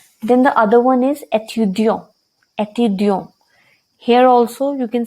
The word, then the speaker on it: étudiant: he'll say je suis étudiant. So when we pronounce étudiant, there is no sound of t. Why? Because e, it is not followed by a vowel.